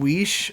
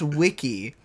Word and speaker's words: Wiche: apparently, one of our viewers, his name is spelled, his last name is spelled Wiche, like niche. Yes. So I had called him Brian Weish or Wish, and apparently it's pronounced Wiki.